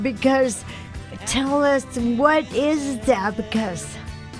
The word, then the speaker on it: Zabocus: and the name of the CD is called Zabocus. Am I pronouncing it right?